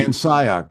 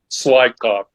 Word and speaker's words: Van Scyoc: Van Scyoc. You see, I made the mistake of going to Warren to ask for pronunciation. It's better than my second grade teacher's pronunciation, Slycock. Oh, well, you know, it could have been Cyclops. That would have been terrible.